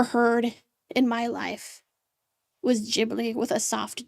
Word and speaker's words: Ghibli: Also, I think the correct way of is Gibbly with a hard G and not a soft G.